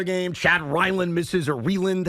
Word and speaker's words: Ryland: Chad Ryland misses, or Reland. How do you say his name? Chad Ryland, the kicker? It's Ryland.